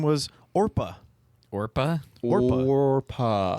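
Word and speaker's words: Orpah: you like G um people couldn't say orpa or spell it so it just like got changed to or people were like no your name's Oprah now I don't know how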